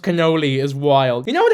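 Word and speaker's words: cannoli: If you're a food reviewer and you pronounce canoli canali, I know not to trust you.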